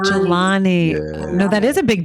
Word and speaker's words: Jelani: heads up no big deal but um it's pronounced galani yeah jalani galani no that is a big deal when people